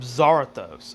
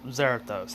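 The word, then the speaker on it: Zarathos: at taijutsu this is because of zarathus or xerathose however you want to pronounce it i don't care uh it doesn't really matter to me it's the same name same thing just different pronunciation but anyway xerathose or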